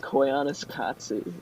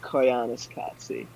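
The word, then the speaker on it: Koyaanisqatsi: Koyaanis Katsi, and it means life out of balance.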